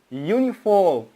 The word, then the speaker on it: uniform: umbrella pronounce it umbrella but the letter U in the word uniform pronounce it you you why because the transcription of the word uniform there is the yak sound and ooh you uniform so by studying phonetics